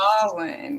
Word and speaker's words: Samhain: Samhain, yes. A lot of people pronounce it Samhain or Yeah, something. that's what I do. I say that. Yeah. No, it's pronounced Samhain.